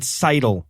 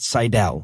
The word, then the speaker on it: Seidel: It's Seidel, by the way, not Seidel. Oh, I thought it was despite Seidel, what I'm like, about to say over and over again. Like Eric Seidel, the poker player.